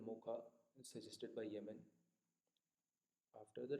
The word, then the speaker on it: Mocha: Cyclones recently cyclone is named as Mocha, pronounced Mocha, suggested by Yemen after the Red Port city.